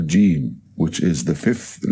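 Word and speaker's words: ج: Now the fifth letter is jim, jim. The sound of it is j, and it has an equivalent in English, like the word jump, for example.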